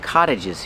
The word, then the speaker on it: cottage: There are a lot of cottages here. Pronunciation. The T makes a fast D. Cott cott cottage.